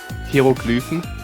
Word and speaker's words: Hieroglyphen: I don't think there's a difference between how you say that in German or English. How would you know? Oh, is there? Yeah, there is. How do you say it in German? Hieroglyphen. I mean, it's close, but Oh, listen to that German accent, boys. it's the first vowel that I got wrong, or a combination of vowels, and that's where the pronunciation differs.